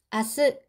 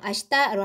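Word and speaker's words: 明日: 자, 이렇게 명일이라고 쓴 거는 아스라고 읽기도 하고 아쉽다라고 읽기도 합니다. 나기사씨는 항상 격식을 차려서 고객을 대하기 때문에 이렇게 격식을 차린 아스로 말을 많이 합니다. 회화체에서는요. 그냥 아시다로 하시면 됩니다.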